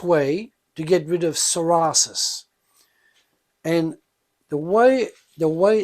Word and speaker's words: psoriasis: is the best way to get rid of psorasis and the way the way it's pronounced is soris but it's spelled PSO r i a s